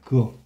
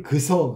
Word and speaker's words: 그어: 근데 어떤 사람은 할머니들 중에서 할아버지 중에서 그어를 그서 그렇게 하는 사람이 있어. 탈락을 안 시키고. 그건 틀린 거야. 그어가 맞는 거야.